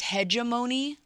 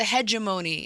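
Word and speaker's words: hegemony: The word everybody is saying wrong is hegeimony. They're saying it's the hedgeimony.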